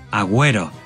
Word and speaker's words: agüero: pero si en español la U presenta la diéresis, sí se pronuncia. Agüero.